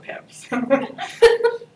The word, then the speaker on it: PPIP: The first P is silent, so I call it PIPs.